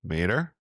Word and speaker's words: MaDer: And me and Thom are also very excited to welcome Donna MaDer. That's how you pronounce the last name, right?